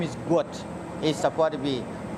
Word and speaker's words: Gout: It's pronounced to rhyme with pout. His name is Guat is supposed to be G u O T. Some when I see people call gut gut, I'm not really happy for it.